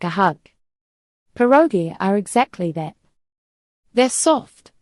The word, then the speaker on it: pieróg: Pieróg.